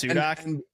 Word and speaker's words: Sudock: Yeah, by the way, I did pronounce it right, correct? It's Sudock. And other people have gotten it wrong.